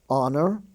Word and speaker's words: honor: now we have the silent h I guess that's a consonant you could say is silent in such words as our h-o-u-r like what hour is it we spell h o u r honor he's on the honor roll h-o-n-o-r honest h-o-n-e-s-t the H is silent there ghost g-h-o-s-t ghastly g-h-a-s-t-l-y